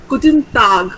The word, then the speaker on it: Guten Tag: Okay, so it's Guten Tag.